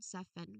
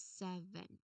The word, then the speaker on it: seven: Uh the safen one saffen with the letter F that is a common error. Um yeah common error. Therefore try to really properly say this word that is seven. Seven B not F.